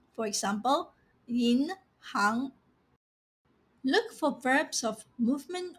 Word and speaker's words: 银行: But when it appears in professions, industries, and roles, you have to pronounce it as 行. For example, 银行.